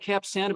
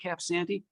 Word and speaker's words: Cap Sante: And there's a marina, is it Cap Santee? I think they say it looks like Cap Santa, but they say it Cap Santee.